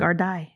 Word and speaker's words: Gardaí: Is it the Gardaí or is it Gardia? I looked it know. up. Gardaí. It's pronounced that?